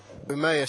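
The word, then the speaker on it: Umeå: Maybe vicarious Redemption that's it okay great so umaya Sweden is that how you pronounce it it's good close enough for in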